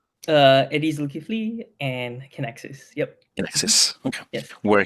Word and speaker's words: Kinaxis: Did I pronounce it correctly? Eddy Zulkifly and Kinaxis.